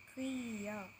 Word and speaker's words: Creole: we go to kill yes the pronunciation is kriya okay what is kriya